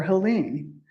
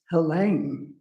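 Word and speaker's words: Helene: So, for as long as I've known about her books, I've called her Helen. Turns out it's pronounced Hela.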